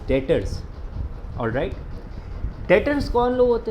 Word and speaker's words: debtors: डेटर में ना, इसको कई बच्चे डेबिटर पढ़ते हैं। बेटा ये डेबिटर नहीं होता, द बी is silent over here, we should read it एज डेटर्स।